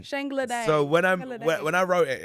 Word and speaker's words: Shangla Dang: I said Shanga Langa Dang. No, but fine. Whatever you want to go there. That's the Yank pronunciation. Yeah. So please say that again. Shangla Dang. Shangla Dang.